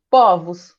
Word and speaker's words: povos: Povo, fechado o O. No plural fica aberto, povos, né?